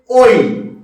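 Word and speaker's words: ঐ: ওই। এর উচ্চারণটা কি করবে?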